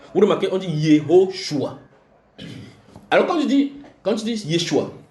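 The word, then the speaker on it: יהושע: Et c'est pour ça que j'ai expliqué dans cet enseignement que en araméen on dit Yeshua. En hébreu on dit Yehoshua. Ça fait 4 syllabes dans un, 3 dans l'autre.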